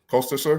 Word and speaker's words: Koesterer: I believe it's Mark R. Koester. Koesterer. Koester? Hey, Mark, how are you? It's Mark Koester.